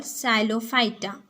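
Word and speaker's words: Psilophyta: First of ऑल साइलोफाइटा. साइलोफाइटा पी क्या है? Silent है, तो साइलोफाइटा, फिनोफाइटा, टेरिडोफाइटा.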